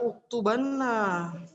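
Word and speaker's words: اُكْتُبَنَّ: Tapi kalau ditambahkan nun taukid, nanti cara bacanya adalah uktubanna.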